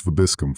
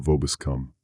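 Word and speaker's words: vobiscum: Dominus Vabiscum, father, not Vobus come.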